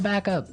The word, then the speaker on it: backup: to point out that here the pronunciation and stress of this phrase is really important, hey? Yes, yes. You have to say back up. Backup. Back up. Yeah. So both words are stressed at about the same level, hey?